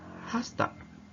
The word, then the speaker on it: has to: a meeting tonight note have to this model is usually pronounced hafta and has to is usually pronounced hosta why I'm explaining you